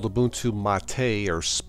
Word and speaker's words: MATE: a version of lubuntu called the boon to Ma Tei or it's spelled mates so check it out if you